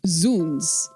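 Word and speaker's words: Zounds: Um, so z should be pronounced zuns because it's uh a contraction of god's wounds.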